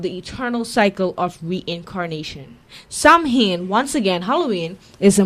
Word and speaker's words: Samhain: Samhain, pronounced Samhain, Savin, or Samhain, known most popularly as